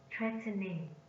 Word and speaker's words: threatening: Threatening. Threatening. Threatening is an adjective, is also stressed on the first syllable.